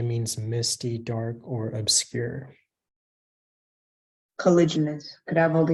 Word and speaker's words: caliginous: Colliginous. Could I have all the information, please? The only pronunciation is colliginous.